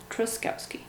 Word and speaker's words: Truskowski: then for me i say my last name truskowski and then again this one can you spell it please repeat please can you spell it